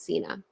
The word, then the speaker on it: Sena: But we're going to be talking about Charlotte Sena today, or Sena. I think I say her last name wrong. It's Sena. And welcome on in, everybody.